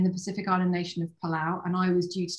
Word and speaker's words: Palau: where is palau and how do you say palau some people say tilu it's palau um and it's in